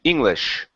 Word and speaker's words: English: Instead of English, it's sh, English.